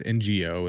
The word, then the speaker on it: Ng: I'm gonna say her name wrong. No, I don't know if that's how you say it. It's NGO is her last name.